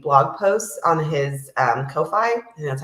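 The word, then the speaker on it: Ko-fi: NPC GUI NPC blog posts on his um Kofi and that's how you say it and um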